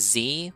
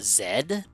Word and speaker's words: Zed: this this I know his name is z but he's act it's actually pronounced a zed ah yes because this